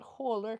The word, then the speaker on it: Hlurk: But this one is, we're always trying to pronounce it Hlurk, but apparently he was pronouncing it Holurk, which is H-Lurk.